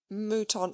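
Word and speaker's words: mouton: Muton oave added the butler gravely pronounced if you please muton ai and the soup is potage de muton alcoayes.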